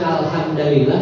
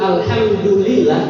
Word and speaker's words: Alhamdulillah: itu ya berbeda makna kalau dibaca alhamdalillah dengan alhamduah jadi kalau saya bacanya Alhamdulillah Ini yang benar apabila kalian membaca alhamdulillah